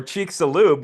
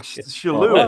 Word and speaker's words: Chicxulub: Or Chicxulub, where it's pronounced kind of like a CH.